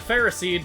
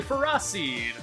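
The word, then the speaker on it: Ferroseed: ] this guy pharah i almost said pharisee but that's not the pronunciation it is canonically ferocide proceed iron barbs is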